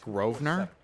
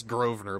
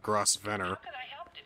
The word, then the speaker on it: Grosvenor: Grosvenor well it's pronounced Grosvenor it's Grosvenor but I want to call him Grover instead of gross venner so it's a silent s I need an address